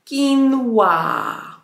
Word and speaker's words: quinoa: No i wymawia się to po angielsku quinoa.